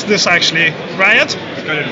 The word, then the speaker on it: RIOT: Hi guys, so what is, how do you pronounce this actually? Riot? Got it right. Riot, okay.